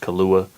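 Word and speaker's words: Killua: one track so far so i know it's pronounced kahlua um yeah that's how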